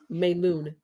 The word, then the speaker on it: Melun: Uh, banlieue it was I went to um, Melun Melun. Um, I may be pronouncing that wrong. Uh, m e l u n Melun me me it's it's like it's it's the Oh, I see.